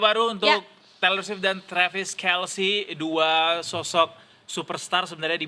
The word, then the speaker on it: Kelce: Kelsey. Oh, Kel Travis Kelsey. Ternyata salah. Ulangin ulang ulang cantik ya. Kelsey kayak healthy ternyata. Kelsey ya. Iya. Selamat menemui hidup baru untuk Torshift dan Travis Kelsey.